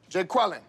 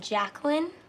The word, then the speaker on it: Jacqueline: feel me okay let's take a roll here Jay quellin which they calling that no Jay quella here yeah uh do you mean Jacqueline okay so that's how it's gonna be y'all